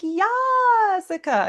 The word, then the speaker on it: Yasica: because my name like when I tell people how to pronounce my name I'm like it sounds like Jessica but with Yah and they're like Yasica and I'm like yeah